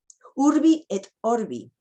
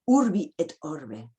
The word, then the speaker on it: urbi et orbi: Urbi et orbi, no urbi et orbe.